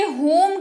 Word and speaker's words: whom: बढ़ते हैं आगे, होम की बात कर लेते हैं। सबसे पहले तो उच्चारण इसका समझ लीजिए, WHOM, इसको होम पढ़ते हैं।